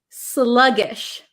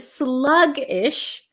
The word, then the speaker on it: sluggish: the pronunciation of sluggish sluggish this is a good word slug-ish sluggish means you're kind